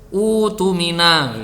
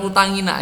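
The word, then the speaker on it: اؤتمن: Lalu kemudian kamu mulai dari sini, maka membacanya utumina gitu. Utumina bukan utangina ya.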